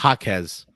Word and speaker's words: Jaquez: Did I pronounce that correctly? Jaquez.